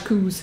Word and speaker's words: coos: it's a scottish and they call them koop they pronounce them and until they're scottish coos that's right the coos